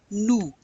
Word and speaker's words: nous: It's we, nous. Nous. We do not pronounce that S unless it's followed by a vowel.